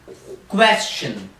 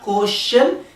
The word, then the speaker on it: question: say we have to say it like question question so it's like question will say question question so just look at the way I'm saying it's not coercion its question question question so technology pronunciation